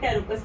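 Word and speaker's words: Pteropus: Flying fox आपका एक बैट का ही स्पीशी है जिसको हम टेरोपस बोलते हैं, P साइलेंट रहता है टेरोपस।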